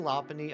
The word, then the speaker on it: Lopunny: But I can get behind Lopunny. I just never thought of it that way. But like punny, like bunny. And lop is in like lop-tailed rabbits, Lopunny.